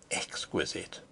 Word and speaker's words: exquisite: What would John Baines have thought of exquisite? Exquisite. She repeated the word with a sarcastic inflection, putting the accent, as everyone put it, on the second syllable.